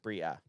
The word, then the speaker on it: Bria: look at is like It is Bria, by the way, AJ. You were right. yeah, okay, It's pronounced Bria.